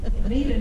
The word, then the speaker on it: Meta: Neda never liked her name because people didn't know how to pronounce it. She would, she said they often pronounced it Meta, as in Metamucil.